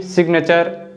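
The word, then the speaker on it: signature: सकते हैं जैसे कि सिग्नेचर रेजिग्नेशन और डेजिग्नेशन इन सभी वर्ड्स में जो लेटर जी है ना यह एन के पहले तो आ रहा है लेकिन फिर भी हम जी को बोल रहे हैं तो अब हम सीखेंगे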